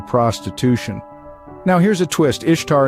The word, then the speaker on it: Ishtar: Ishtar is pronounced Easter, and the egg and bunny symbols we associate with Easter today were originally fertility symbols of Ishtar's.